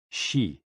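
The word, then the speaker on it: xi: which is associated with the spleen and x-i pronounced like she which connects the whole body the following poem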